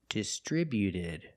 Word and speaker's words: distributed: If I change the action, distribute, to the past, we have distributed. When we add ed, the T at the end is between vowels, so it's a fast D. Not distributed, but distributed. Distributed. Put the stress on the second syllable only.